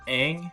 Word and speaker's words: Aang: That's how you pronounce his name? Okay, what about Aang? The monks named me Ang.